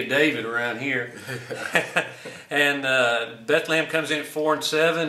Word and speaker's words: Bethlehem: at rocket stadium and Bethlehem comes to town or Bethlem is the way they pronounce it we call it the City of David around here and Beth lamb comes in four and